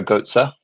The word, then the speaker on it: Götze: Is Mario Götze. Is that how you pronounce his name?